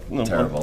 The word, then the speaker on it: Terrible: Terrible. I'm phonetically spelling. Gotta throw a little stank on it. Yeah, exactly. You gotta roll those R's.